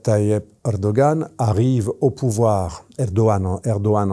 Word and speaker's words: Erdoğan: Monsieur Erdogan Rchep Tay Erdogan arrive au pouvoir Erdogan Erdogan en turc parce qu'il prononce pas le G.